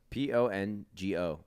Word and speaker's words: Pongo: in McDonald spell it P O N G O Pongo like Bongo but with a p no I think it's